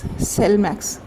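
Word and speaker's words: Slimex: मैं आप इसका स्पेलिंग बता देती हूं। एस एल आई एम ई एक्स सेल मैक्स।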